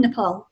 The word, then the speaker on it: Nepal: You say Nepal. Nepal, yes. Nepal, that's it. Yes. Nepal. Get the accent.